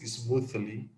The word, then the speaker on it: smoothly: I hope that everything runs smoothly. Okay. Smoothly. Smoothly. Yeah, the TH is like the vibration TH, like smoothly.